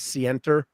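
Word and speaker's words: scienter: about from the um you pronounce it as sienter yeah standard right so yeah that's right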